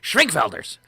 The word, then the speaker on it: Schwenkfelders: The Schwenkfelders. You should say it like you're German.